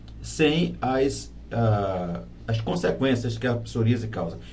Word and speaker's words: psoríase: Psoríase. Aí, como é que se pronuncia?